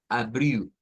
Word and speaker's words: abril: Y es que cuando las palabras en portugués terminan en L, la L se convierte en U. Pero eso es nada más para el portugués brasileño. Entonces, ese lo vamos a pronunciar como abriu.